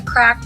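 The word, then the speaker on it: Craic: Over here is the Crake. It's actually pronounced the Crack, but I think that sounds weird.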